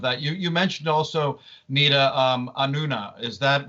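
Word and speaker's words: Anúna: You mentioned also, Neeta, Anuna. Is that how you pronounce it?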